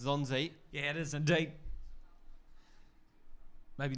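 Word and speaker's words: Nzonzi: It starts with an N, but I think it's pronounced Zonzi.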